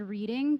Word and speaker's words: Reading: talk right uh there's a city in Pennsylvania called reading pronounced reading yeah it's probably Pennsylvania